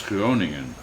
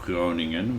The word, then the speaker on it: Groningen: Well, you have the NG in the middle of Groningen, which is like the normal ing sound.